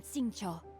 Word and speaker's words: Xingqiu: I am Xingqiu, disciple of the Guhua Xingqiu. clan. Yung pala yung pronunciation.